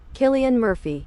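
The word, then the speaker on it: Cillian Murphy: Pronunciation. Oh my god, dude. You're so right. Killian Murphy.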